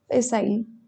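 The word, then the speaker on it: facile: करना उसको क बढ़ावा दे रहे है आगे फ साइल एफ ए सी आई एल ई फिसाइल फिसाइल यानी आसान इजी या फिर सुगम ठीक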